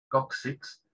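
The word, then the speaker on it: coccyx: se pronuncia como una caja por eso ellos pronuncian cóccix kuksiks para nosotros es coxis o hueso coxal le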